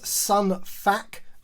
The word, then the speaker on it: Sun Fac: This one is Sun Fac, I believe is the way that you pronounce his name.